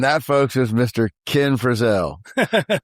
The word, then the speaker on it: Frizzell: Most people that say Frizzle are based on Mrs.